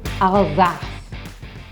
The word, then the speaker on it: Alsace: By the time you've gone through this, you will be able to pronounce everything perfectly. First up is Alsace.